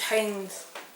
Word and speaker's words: Heinz: is it Pine no Heinz is spelled h-e-i-n-z so it's Haynes Haynes the zombie survival